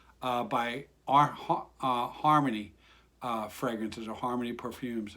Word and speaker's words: Xarmony: but it you know you would get harmony out of it even though it's an x so that's how you